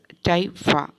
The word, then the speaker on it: typha: across the word typha the pronunciation is typha let's have a check